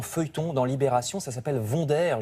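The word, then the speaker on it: Wonder: dans Libération ça s'appelle vonderire je prononce à la française parce qu'il s'agit de la marque de pile autrefois bien connu c'est l'histoire d'une ouvrière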